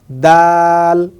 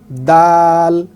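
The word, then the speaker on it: دال: তারপরে হরফে আমরা যদি দেখি, এই হরফটার নাম হচ্ছে দাল। দাল। তাহলে খুবই সহজভাবে যদি আমি বলি, কিভাবে বাংলায় যদি আমি লিখি এভাবে, দ আকার ল, সকলে বুঝবেন বাংলায় দ আকার ল কি হচ্ছে, দাল হচ্ছে।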